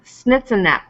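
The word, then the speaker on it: Schnitz un Knepp: So another dish over to the left there is pronounced snitzenep.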